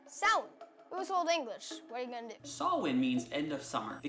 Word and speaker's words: Samhain: holiday but the most well known one is saw when actually pronounced so Old English saw win means end of song the Celts it's divided